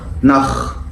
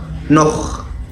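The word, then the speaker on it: noch: السي اتش سي اتش سي اتش عندنا لو جت بعد ثلاث حروف معينين بتنطق خا خا الثلاث حروف دول هم الا او احفظهم عشان لو السي اتش جت بعدهم بيتنطق خا ثم اشبيل بوخ بوخ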